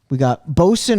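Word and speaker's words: boatswain: It's kind of spelled like bowswan. A bowswan. A bowswan, a bosun. It's a bosun.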